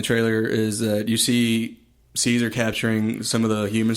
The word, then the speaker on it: Caesar: is that you see Caesar capturing some of the human soldiers MH and then also you see later on the trailer Woody Harrelson's militia capturing some of the Apes it's pronounced Cesar say say and then uh yeah